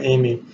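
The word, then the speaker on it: Emigh: interesting spelling of his last name but it's pronounced Kim Amy who worked at worldcom and handed up discovering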